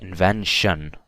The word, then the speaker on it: invention: So next time you see a T-I-O-N together, you don't say tion, for example. I don't say invention, I say invention, okay? So it's pronounced as shun. And the stress is always on the vowel before the T-I-O-N.